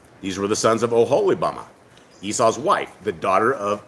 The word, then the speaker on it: Oholibamah: It's pronounced Oholibamah.